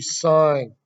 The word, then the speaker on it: sine: so the first one on your calculator it looks like a sin but it's not a sin we're not sinning it's actually sine okay but in calculator